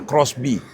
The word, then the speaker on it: XBEE: Di samping gua ini ada Suzuki XB atau bacanya Crossby.